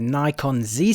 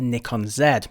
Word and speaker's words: Nikon Z: system in North America it's known as that Nikon Z system but as I'm European I'll be pronouncing it as the Nikon Zed hope that's alright as always if you